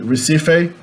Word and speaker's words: Recife: beginning of the syllable, most Brazilians nowadays pronounce the R at the beginning of the word as an H in English. So Recife, R-E-C-I-F-E, R-E-C-I-F-E, Recife, in English, Recife, Recife in Portuguese.